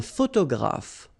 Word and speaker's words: photographe: Un photographe. So here, PH, and here, PH, pronounce it like F, f, f, f.